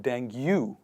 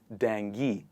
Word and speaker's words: dengue: let's say a mosquito it is not dengue it is dengue as you say it correctly in english language next one is data